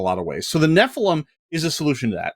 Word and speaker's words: Nephilim: like so the uh the Nephilim is I believe the correct pronunciation as I have been instructed by the editing team um I'm good at